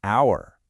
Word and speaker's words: hour: Now try saying hour. You notice how the H is silent? The first sound you actually hear is ow, and that's a vowel sound, so it's an hour.